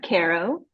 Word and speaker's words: Caro: Uh, it's pronounced Carol. Um, like I really I really care about y'all.